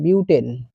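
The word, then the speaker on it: butane: Option A মিথেন, option B propane, বুটেন, না এটা বিউটেন, মানে ইংলিশ টার্মটা উচ্চারণ হিসেবে বুটেন লেখা আছে।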